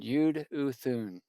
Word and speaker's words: Jeduthun: It's addressed to the chief musician to Jeduthun. That's just the Hebrew pronunciation, Yude Uthun.